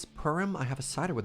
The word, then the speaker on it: Purim: Since it's Purim, I have a cider with me.